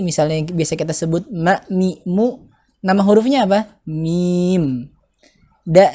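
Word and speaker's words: ميم: Nah, cara menulis huruf mim itu adalah yang pertama mim, kasroh, mi itu ya, kemudian ya, kemudian huruf mim yang bertanda sukun, ya. Mim dibacanya seperti itu.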